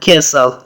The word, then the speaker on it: castle: That is an old castle. That is an old castle. Castle معنا کلا یا ماڼۍ ته هم استعمالیږي. یادونې وړ ده چې په castle کې ټي نه تلفظ کیږي، ټي سایلنټ ده.